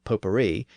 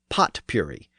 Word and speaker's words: potpourri: It's pronounced in the French manner, potpourri, even though it looks like potpourri, because it has that word pot in it.